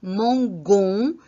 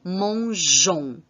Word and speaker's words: mangeons: Donc, je vais écrire G-E-O-N-I-S et non G-O-N-I-S parce que sinon, la prononciation serait mangon et non mangeons.